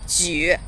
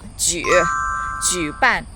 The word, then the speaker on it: 举: 需要学习 Again, 我需要学习 Finally, 举 equals like J-O-O. 举 third tone dip. 举办 to hold. 举 equals like J-O-O. 句 equals like J-O-O falling tone. 句子 or sentence. Repeat after me. 举办 fourth tone.